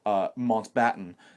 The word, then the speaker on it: Mountbatten: and likable side to Philip Mountbatten, is the way I've been told I should try to pronounce it.